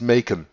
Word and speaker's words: Macon: Macon, in Georgia, in Macon, sorry, it's not French, I pronounce that French, Macon, it's Macon, Georgia.